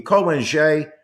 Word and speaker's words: Ko Wen-je: That would be Hu Yu-yi, that would be Ko Wen-je, that would be Lai Ching-te, and that would be Tsai Ing-wen.